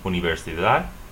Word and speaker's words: universidad: University ends with a consonant D, universidad, universidad.